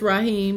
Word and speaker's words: Raheem: you say your name Raheem rahem right right Emma I don't want to say it wrong okay okay so it's Raheem like I thought beautiful I love it